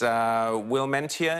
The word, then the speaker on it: Willemientjie: But we do have the last couple of shots of, I think it's Wilmentia, is that how you pronounce it? Yes, that's correct, Willemientjie Potgieter. And you would have noticed